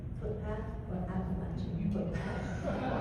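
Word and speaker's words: Appalachian: Do you pronounce betrayal appation footpath or appalachin footpath? And do you think it's important? Appalachin is how I said it growing up.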